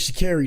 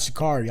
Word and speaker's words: Sha'Carri: Well, her name is Shakiri, not Shakari. I call her Shakari, but her name is Shakiri.